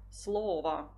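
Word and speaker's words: слово: come quello lì evidenziato eh l'accento tonico si sposterà sappiamo che quando si forma il plurale di un sostantivo se quel sostantivo è del genere neutro e e consiste solo di due sillabe l'accento l'accento tonico quasi sempre si sposterà e noi troveremo parola slova parole Slava Poi troviamo la parola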